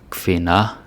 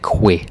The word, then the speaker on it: kvinde: I remember some Americans pronouncing this like que, like it's a Q. It's not a Q, it's a K and a V, okay?